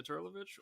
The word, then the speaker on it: Turlovich: to be yeah yeah so just the intonation was a bit different but that's it more emphasis on the first syllable yeah but i didn't